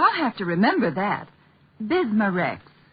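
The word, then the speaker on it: Bisma-Rex: have to remember that bismar Rex is that how you say it that's right ma'am b i s m a hypen reex bismar ask for bismar at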